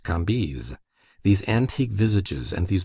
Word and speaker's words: Cambis: There were in Madame de T.'s salon some very noble ladies named Mathin, Noé, Lévis, Levis, which was pronounced Lévis, Cambise, Cambis, pronounced Cambise.